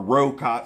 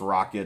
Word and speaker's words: Rokot: steel rocket uh or rocot some people say but it's supposed to be pronounced rocket it's r-o-k-o-t and these